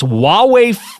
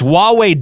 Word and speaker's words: Huawei: Huawei fitc comedybangbang now that's huwei do why can't I pronounce this right I want to get to the fit no it's Huawei dotfit SLC comedybangbang right to